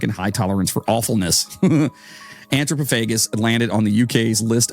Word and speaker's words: Anthropophagus: Then there is one I'm going to attempt to pronounce. Anthropophagus. Anthropophagus, I believe. It's a G sound.